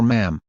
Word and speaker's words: ma'am: Royal Highness and then Sir or Ma'am, to rhyme with jam.